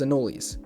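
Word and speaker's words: anole: Also, did you know anol is pronounced anoli?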